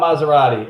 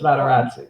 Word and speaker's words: Materazzi: It's not Maserati. It's Materazzi.